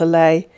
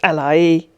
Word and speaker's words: Alaye: word correctly for you it's not a lay it's alai i can't hear you